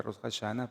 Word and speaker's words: Rosh Hashanah: Eso en hebreo se pronuncia Rosh Hashanah, pero es la cabeza del año o el inicio del año o la fiesta de las trompetas.